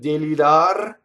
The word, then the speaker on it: delirar: The R at the end of delirar rolls because it touches a consonant, touches the M.